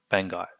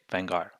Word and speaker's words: Vanguard: legion happens here when we say vanguard we don't say the d unless you want to emphasize a japanese accent you would say venga vanga but we drop the d legion happens here too